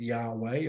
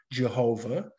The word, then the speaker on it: Yahweh: Okay, you put vowels into that and you get Yahweh, or if you translate it like Tyndale, you get Jehovah.